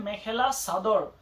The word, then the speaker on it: मेखेला चादर: तो यहाँ पे लोकली प्रोनाउंस होता है मेखेला सादर।